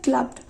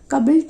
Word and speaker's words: clubbed: তাহলে প্রথমটা হলো অ্যারেস্টেড, তারপরটা কিলিং, তারপরটা were ক্লাবড, উচ্চারণটা হচ্ছে ক্লাবড, কাবল্ড না, উচ্চারণটা ক্লাবড টু ডেথ।